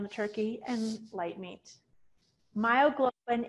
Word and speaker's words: myoglobin: turkey and light meat myoglobin is in the dark meat it rhymes with hemoglobin it actually has oxygen